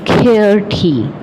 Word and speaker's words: QWERTY: The standard arrangement of alphabets keys is known as the QWERTY, pronounced QWERTY keyboard.